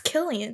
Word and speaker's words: Cillian: That's how you say his name, right? No, Cillian? it's Cillian. Cillian? Yes.